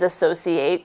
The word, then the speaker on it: associate: as a noun then spelled the same way as associate but said associate associate is a person who